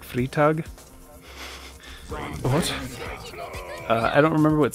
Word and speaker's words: Freitag: Freitag, you kind of pronounce it like Friday, Freitag.